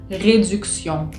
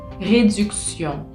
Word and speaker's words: réduction: Entonces cuando tenemos la T, la I, la O y la N, hacen el sonido sion, sion, como si fuese una S-I-O-N, pero no tenemos la S, tenemos una T.